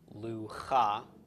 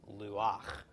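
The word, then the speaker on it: לוּחַ: state normally you would think this would be pronounced loo ha because we would pronounce the hate before the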